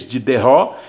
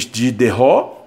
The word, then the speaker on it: Diderot: ó, foi organizado e coordenado pelo filósofo Denis Diderot e o matemático D'Alembert, tá? Jean D'Alembert, é mais ou menos assim que se pronuncia o nome deles, tá? Aqui está o Denis Diderot, tá?